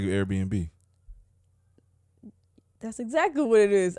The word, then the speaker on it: Airbnb: AirNub. AirNub. I didn't know it was B&B. That's so stupid. Airbnb, yeah.